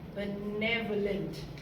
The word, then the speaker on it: benevolent: It took me a lot of time to get the right pronunciation, but the stress is on the second syllable. If you can just say it with me, it's benevolent.